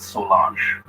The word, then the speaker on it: Solange: Solange, it's a Haitian name. They have some Haitian background in that family. I don't know how to pronounce that name, but in Haitian, we call it Solange, right?